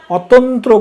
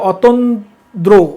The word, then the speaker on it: অতন্দ্র: অতন্ত্র কথাটা অনেকে ভুল বলে, আসলে হবে অতন্দ্র, অতন্ত্র না, অতন্দ্র প্রহরী।